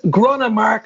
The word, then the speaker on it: Gronnemark: got an absolute legend with me today gronin mark i think i pronounced that right yeah that's totally right dave